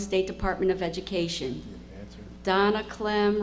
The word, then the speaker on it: Clem: for the Maryland State Department of Education Donna Clen rhymes with it just happened that way I want